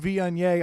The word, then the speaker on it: Viognier: So I'm like, "Dude, it's pronounced Viognier.